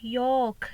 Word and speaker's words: yolk: We don't pronounce L letter. We have to say York.